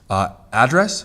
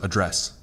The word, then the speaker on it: address: Where if you have a word that can be both a noun and a verb, you change the emphasis on the syllables, and it changes the meaning. So, address versus address. So if I'm going to address you as Mr., then that's the verb, address. So if you put emphasis on the second syllable, it becomes a verb.